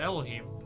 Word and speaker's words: Elohim: That's how you pronounce it, Elohim.